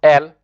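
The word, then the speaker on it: elles: You pronounce ILS, il also. E-L-L-E-S also is pronounced L.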